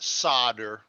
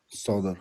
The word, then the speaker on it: solder: world for me yeah the l is silent we call it solder solder soldering iron okay soldering